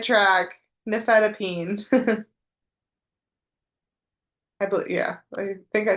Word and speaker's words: nifedipine: Nifedipine.